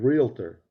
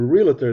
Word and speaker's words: realtor: to pronounce the word realtor you say saying a realtor there's no i in the in realtor it's it's realtor realtor she says are you